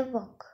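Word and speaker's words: walk: Next is वॉक, चलना, डब्ल्यू ए के, डब्ल्यू ए एल के, वॉक। एल इसमें साइलेंट रहता है, मतलब इसका साउंड यूज नहीं होता, बट ये होता है रैप।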